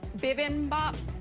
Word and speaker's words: bibimbap: you tell me how to say it correctly bibimbap yeah okay i made an asian inspired shrimp